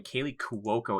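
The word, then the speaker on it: Kaley Cuoco: harley quinn that's how you say her name kaylee cuoco yeah she's again i thought she she doesn't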